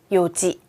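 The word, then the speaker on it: 四時: 요지. 맞습니다. 4시는요, 원래 4는 용이잖아요. 그리고 시는 지예요.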